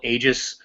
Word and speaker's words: Aegis: I just call it Aegis. Aegis? A-J-I-S. Nice.